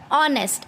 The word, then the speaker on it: honest: Okay, these words start with h, but when we pronounce these words they give us a sound of a vowel.